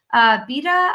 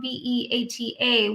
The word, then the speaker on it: Beata: Beta, I'm so sorry if I said your name wrong. Beata.